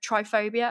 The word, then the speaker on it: trypophobia: in the news summary about the triggering of trypophobia oh no how do you say it try